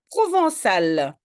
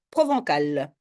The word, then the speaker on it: provençal: sinon je prononce balenquire provençal tu vois ce que c'est ça vient de Provence qui est provençal oui c'est dit sinon c'est provencal merci là il faut